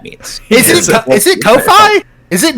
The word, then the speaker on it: Kofi: what I'm saying like it's not pronounced coffee so wait what dude